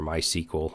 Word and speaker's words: MySQL: an object-relational database and I used MySQL for years or my sequel however you want to pronounce it I use that